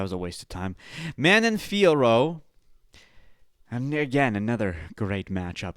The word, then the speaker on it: Manon Fiorot: The correct pronunciation of Manon Fiorot in French is approximately Mon Fioroche, with the emphasis on the last syllable of each name. Manon, pronounced Manon, where the N is nasalized, typical of French pronunciation.